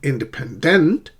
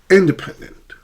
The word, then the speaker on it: independent: Independent, not independent, not independent, but independent.